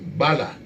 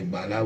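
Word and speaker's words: Gbala: We also have another Bai Bala, that's B-A-I, and the last name is spelled G-B-A-L-A, Bai Bala.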